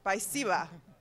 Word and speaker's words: спасибо: Спасибо.